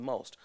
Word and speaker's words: Meaux: out of 60 plus plays and nine categories moe won best singer moe has a new director